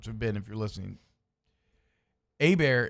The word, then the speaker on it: Hebert: ben if you're listening a bear is spelled h-e-b-e-r-t herbert is spelled h-e-r-b-e-r-t you were talking about